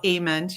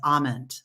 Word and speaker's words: Ament: And so Ament, you can just think like amen with a T. And often it is mispronounced as Ament.